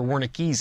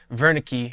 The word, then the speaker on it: Wernicke: lobe and it's called Wernicke's area named after the doctor who discovered it Virna key would probably be a better pronunciation but this area allows